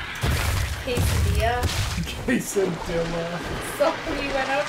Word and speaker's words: quesadilla: So, he totally said quadilla, and I wanted to die.